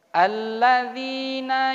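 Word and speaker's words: الَّذِي: ayat yang ketiga lagi alladziina yu'minuuna al-ladzii disitu adalah Mad Thobi'i panjangnya satu Alif dua harokat cara bacanya ilallazi alladziina yu'minuuna Cukup dua ketukan saja itu sesuai dengan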